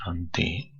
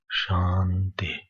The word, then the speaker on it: शांति: The Shanti mantra, when you pronounce Shanti, so under Ti should be down.